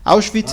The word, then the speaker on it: Auschwitz: bueno, se pronuncia Auschwitz. Recuerden que en alemán la W es como una B.